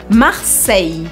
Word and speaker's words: Marseille: pronunciando bem o l agora em Marseille o l desaparece e a gente acaba fazendo um I Comprido sempre em francês que